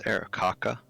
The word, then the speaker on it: Aarakocra: I don't know how to pronounce his race. Aarakocra. It's Aarakocra.